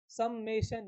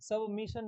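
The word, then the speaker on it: summation: समेशन, ये होती है स्पेलिंग, सबमिशन नहीं होता, वो आधी आधी दुनिया इसको सबमिशन पढ़ती है, समेशन, राइट।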